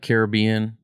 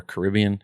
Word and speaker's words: Caribbean: go ahead okay uh caribbean or caribbean how do you say that i say it both ways okay same thing with